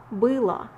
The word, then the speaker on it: было: But remember guys that when O is not under stress, it's pronounced as A. That's why всё было хорошо. Can you catch it? It's pronounced like A. Всё было хорошо.